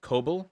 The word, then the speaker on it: Kabul: official sources say 30 days at most it's pronounced cobalt cobalt thank you um i would be surprised if they lasted 30 days i'd be surprised if they lasted 10.